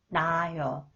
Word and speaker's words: 낳아요: When the final consonants 히읗 is followed a vowel, 히읗 is not pronounced. 나아요. 낳아요.